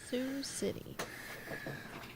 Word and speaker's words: Sioux City: city iowa is where this was apparently nice sioux city you pronounced it right did i i did do